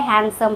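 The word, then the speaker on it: handsome: हैंडसम नहीं पढ़ते हैं। डी वहां साइलेंट होता है। हैंडसम पढ़ते हैं।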